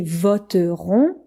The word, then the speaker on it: voteront: Alors ça s'écrit voteront, mais on le dit voteront.